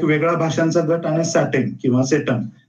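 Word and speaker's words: satem: अशी काढलेली होती की केंटम म्हणजे सी इ एन टी यु एन आणि सेटम म्हणजे एस ए टी N Latin उच्चार आहेत हे इंग्रजी स्पेलिंग समोर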